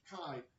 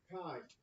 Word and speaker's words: chi: I know I know when you're looking at this you want to say chi right you want to say chi or chai or I don't know what you're GNA say but this is Kai it's a Greek letter Kai all right so I'm